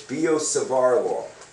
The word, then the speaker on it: Biot-Savart: what bio Savar did yes the t's aren't pronounced uh so it's bio savaro now experimentally experimentally it